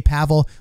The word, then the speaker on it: Pavel: ends up going in i said it wrong everyone's telling me just say pavel look there's three things